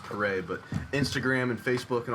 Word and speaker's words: Paré: we find you on social media is what it looks like on Instagram last name is pronounced parade but Instagram and Facebook and all that they